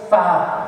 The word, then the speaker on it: ف: Fa. This is how I pronounce it.